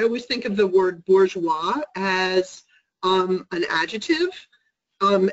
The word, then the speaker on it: bourgeois: interesting question because um it's bourgeois it's like on the german burger it's it's urban urban